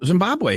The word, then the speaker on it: Zimbabwe: always been called Zimbabwe formerly Zab have I saying it wrong no no Zimbabwe is correct but it wasn't always